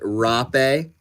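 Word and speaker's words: rapé: So, it's pronounced rape and it's a it's a South American tobacco snuff.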